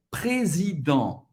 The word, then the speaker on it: Président: aqui também, e é Président. Président. Président. O S, mais uma vez, entre duas vogais, vai ser pronunciada Z, ok? Président. E N tem o som do e o T é mudo.